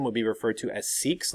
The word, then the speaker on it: Sikhs: The people who practice Sikhism would be referred to as Sikhs, like S-E-E-K-S is how it's pronounced.